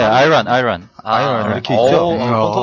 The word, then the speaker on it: Iran: 네, 아이란. 아이런 이렇게 있죠. 본토 발음이 나온대요, 지금.